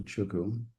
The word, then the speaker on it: Chuku: From Sherlock Holmes to Chuku. Uh, give me my name is a little bit um difficult here. So, I'm going to change my name to Chuku. It's pronounced Chuku. Make it a bit easier.